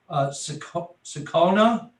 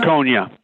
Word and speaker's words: Jaconia: Am I pronouncing this correct? Sakona? Is it Sakona? Jaconia. Okay, Jaconia. Jaconia Electric Sign Company, 4330